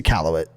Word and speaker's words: Iqaluit: It's a Iqaluit. It's Iqaluit, bro. I've only ever He's a heard people say geography- Okay, Iqaluit.